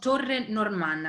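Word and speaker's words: Torre Normanna: end of the presentation so spelling it's called torrent norman spelling is two words t-o-r-r-e like tower and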